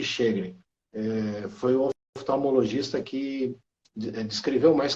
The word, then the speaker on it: Sjögren: disse naquela época que a pronúncia correta era síndrome de chedre e a gente teve a oportunidade de perguntar lá na Suécia como eles pronunciavam mostrando por escrito né esse nome realmente eles pronunciaram síndrome de cheguem foi oftalmologista que escreveu